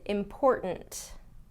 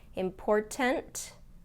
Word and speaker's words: important: here that's interesting is important important do you hear how I don't pronounce that middle T important versus important important we'll